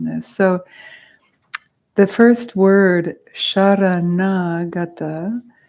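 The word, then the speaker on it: शरणागता: So the first word, sharanagata, sharana has the S with the accent aigu over the top, which makes it a sha, like a retroflexive sha.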